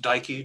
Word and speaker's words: Dekey: well so um andrew my last name is pronounced dikey just so and i've